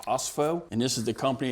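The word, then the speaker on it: Ospho: It's pronounced OSFO, and this is the company that makes it.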